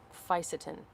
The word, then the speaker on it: fisetin: Fisetin. Fisetin or Fisetin. I've heard it pronounced both ways.